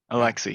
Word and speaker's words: Alexi: guys could hear me Alexi yep yep it's exactly how it's spelled so Lexi um hi